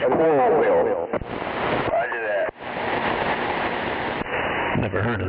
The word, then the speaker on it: Coralville: Coilville? Yeah, like coral reef. Spelled the same way as coral reef, but it's Coralville.